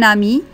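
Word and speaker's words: amie: أو ما اسم صديقتك إذا كانت صديقتك نفس النطق comment s'appelle ton ami لكن في الكتابة نضيف e à la fin.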